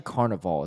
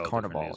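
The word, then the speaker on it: Carnaval: the Brazilian Carnival nice no it's actually Carnival it's not car it's not like pronounced differently it's actually spelled differently too it's Carnival yeah yeah it's a a instead of I um but that's cool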